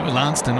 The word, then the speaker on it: Launceston: Lanston or something? Lanston. It's got to have that. Come on, man. That pirate pronunciation about it. Lanston. Proper West Country growl.